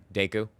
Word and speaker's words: Deku: do well like that but hey if if daco can do it I can do it too if who can do it Deku they're missing his name wrong Deku diku what